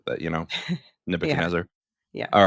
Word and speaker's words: Nebuchadnezzar: You have to say that word fast, or you're going to mispronounce it. That Nebuchadnezzar.